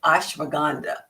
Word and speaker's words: ashwagandha: I like ashwagandha. It's spelled like ash, wag, and ha.